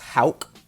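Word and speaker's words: Haugh: Uh, now I know it's pronounced Hal out of Florida.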